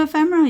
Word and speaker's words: ephemera: catch that but you can turn it into ephemera you guys to put into your Journal this